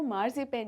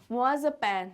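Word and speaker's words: marzipan: अब ये जो मार्जिपेन है, इन वर्ड्स को, इन लेटर्स को देखकर तो ये लग रहा है कि ये मार्जिपेन है, बट इसका जो सही प्रोनाउंसिएशन है वो मार्जिपेन नहीं, मुआज़पेन है, मुआज़पेन। ठीक है, इसको कुछ हम इस तरीके से अगर मैं लिख के बताऊं तो शायद आपको ज़्यादा अच्छे से समझ में आ पाएगा। MUHZUHPAN यानी मुआज़पेन, इसका प्रोनाउंसिएशन यही है।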